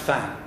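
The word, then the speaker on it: 蕃: of my teachers there, it was always pronounced Fan. It's now pronounced Bo in the People's Republic of China, and if I may say so, this is politicized language or politicized linguistics.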